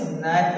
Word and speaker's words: knife: आए तो, ठीक है, एन आए तो वर्ड को पढ़ते समय के का उच्चारण नहीं करते, के का उच्चारण नहीं करते, ठीक है, के का उच्चारण नहीं करते हैं। जैसे कि आपके पास एग्जांपल हो गया, आपको अक्सर मिलते रहता है KNIFE, तो बेटा इसे किनाइफ नहीं पढ़ेंगे, क्योंकि क्या पढ़ेंगे, इसे नाइफ पढ़ेंगे।